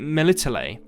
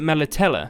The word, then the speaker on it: Melitele: of people pronounce it military but also a lot of people pronounce it mela teller so it seems to be kind of an interchangeable pronunciation for this word i'm not entirely sure